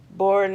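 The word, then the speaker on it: Bourne: and it is by Edmund J born born is spelled Bo you are in E and he's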